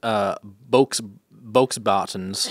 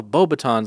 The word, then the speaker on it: Beauxbatons: But regardless, when I was reading as a young boy, I thought it was pronounced Bokesbottens because of the X. I mean, and then when I saw the movie, they were like, "Oh, Beauxbatons."